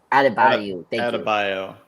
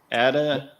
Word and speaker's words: Adebayo: Adebayo. Okay, Adebayo. Thank you, Luke. Adebayo.